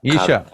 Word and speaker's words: Isha: Ishi ka, Isha.